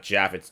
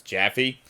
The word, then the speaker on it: Jaffe: wrong the entire time it's not jaffet's jaffy anyway yeah second video